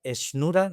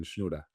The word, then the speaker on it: Schnura: invitado de excepción, Esnura. No sé si lo estoy pronunciando bien o no sé cómo lo pronuncias tú. Está está bien. Esnura Esnura.